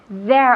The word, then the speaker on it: there: There are two. Entonces, there, con la lengua entre los dientes, siempre, ¿qué dices?